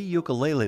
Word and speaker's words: ukulele: Since moving to South Dakota from Hawaii in 2015, Joseph Ahuna has been giving free ukulele lessons to anyone 7 and older. Lesson 1, it's pronounced Ukulele.